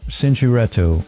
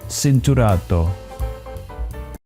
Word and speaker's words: Cinturato: we also have, and I always struggle to pronounce this, we have the Cinturato, but Pirelli is Italian, so it basically should be Cinturato.